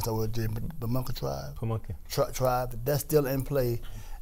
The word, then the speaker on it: Pamunkey: How you pronounce that word? The Pamunkey tribe? Pamunkey.